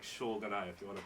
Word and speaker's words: Shōganai: And you got to say it like Shogunai if you want to pronounce it right.